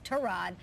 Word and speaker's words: Tyrod: they're the Browns said the official pronunciation is tore odd but he just sent